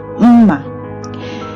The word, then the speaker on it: mma: So the very first kitchen utensil is mma, which is knife. Okay, it's pronounced mma.